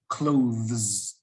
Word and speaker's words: clothes: difficult to say okay so it's only one syllable you might think it's two often es is another syllable like a church or two churches bus buses uh watch watches but no in this world it's all part of the same syllable clothes clothes clothes clothes